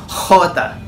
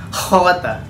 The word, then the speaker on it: Jota: Katulad ng letrang J, ito naman ay ang J pinupronounce sa Espanyol bilang Jota. Jota.